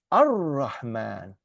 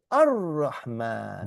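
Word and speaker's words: الرَّحْمٰن: This goes into, so the alif lam, you don't pronounce the al, right? So you go Ar-Rahman. Oh, yeah. Okay, Ar-Rahman.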